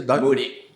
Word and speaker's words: Moody: Finney, então, 1875, né, Moody, como é que pronuncia? Moody.